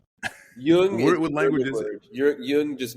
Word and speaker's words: Jung: Carl Yung it's pronounced almost the same as yung but it's like a little more oo like the oo in both words is actually the same yung mudra you know it's like